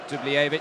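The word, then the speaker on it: Dubljević: How do we want to say his name? Dublevic or Dubljevic? Which one do you prefer? Dubljevic. Okay. I'll go with you then.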